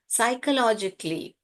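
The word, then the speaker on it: psychologically: हैं emotion emotionally and साइकोलॉजिकली ये पी जो है यहां पर साइलेंट है बेटा साई लिखिए क लिखिए सी एच जो है यहां पर क साउंड कर रहा है वैसे तो सी एच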